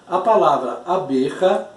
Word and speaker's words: abeja: Já a palavra abeja, a tônica não é o A. Se eu separar as palavras, eu coloco lá abeja. A B é a sílaba tônica.